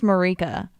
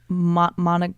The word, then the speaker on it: Mireika: like crazy like yo my name is Marika okay my Starbucks cup this morning said like Monica Monica rant or something